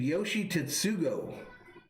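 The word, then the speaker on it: Yoshi Tsutsugo: time as us brewster says the guy's name yoshi tatsugo is how you say it yoshi tatsugo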